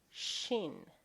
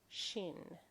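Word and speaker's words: شين: And that is why the name of the letter rhymes with Sin. It is Shin. Shin, the big version and the small version.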